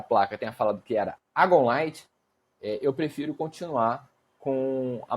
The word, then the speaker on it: Agon Light: Muitos falam Agonlight, como o próprio criador da placa fala Agonlight. Existem algumas pessoas que falam Egonlight e um grupo maior de pessoas que falam Egonlight.